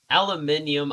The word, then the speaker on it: aluminium: Yeah, I said that before, but aluminium, I believe, is British. The British spelling and pronunciation, while aluminum is American. And because Philippine English is based on American English, we also use aluminum.